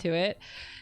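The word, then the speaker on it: tuit: when I got around to it. She ended up like cutting a piece of round paper in a circle and writing the word T-U-I-T on it, so it's pronounced to it, and then she handed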